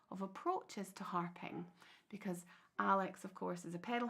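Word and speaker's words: Aiwlie: events um so a is A's name is pronounced Al but it's spelled a i w l i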